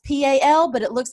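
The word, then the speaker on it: Powell: kind of like Mayberry it's called POW it's pronounced P al but it looks like powa al and Friday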